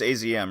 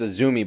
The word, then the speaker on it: AZM: I said because it's Azumi, but apparently that's wrong. No, I don't. What's up? So the way you pronounce the letters AZM in Japanese is A, Zu, and Mi.